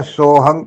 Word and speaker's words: सोहं: था सोहम सोहं और यह सोहम जो है जब यह लिखा जाता है ना सो साथ में जो हा के ऊपर बिंदी होती है ना वो हम भी पढ़ा जाता है हंग भी पढ़ा जाता है तो इसको उच्चारण करते समय सोहंग कहा जाता अ सोहंग हंसा यानी